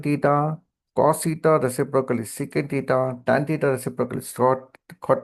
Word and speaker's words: secant: Secant theta is, see, sec theta, don't read it as sec theta. Instead, read it as secant theta.